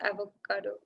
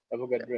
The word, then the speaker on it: Avogadro: I almost read it as what's the I almost read it as avocado. How do you pronounce it? I just forgot the pronunciation. Avogadro. But I read it as the fruit, which is like Avocado.